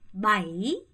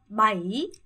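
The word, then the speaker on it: bảy: 바이. 여러분 바이 아니고요. 바이. 아가 짧고 이의 강세. 바이.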